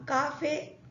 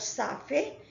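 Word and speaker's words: café: now the word Cafe now Cafe there is no I there is no e after C so it will take the pronunciation of Cur as in Cat Cafe not safe Cafe now com also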